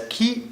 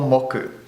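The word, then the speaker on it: 木: the Ki for Woods which is pronounced as ke or moku so M the day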